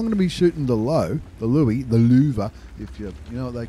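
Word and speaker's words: Löwe: There's the Louis. That's how it's pronounced.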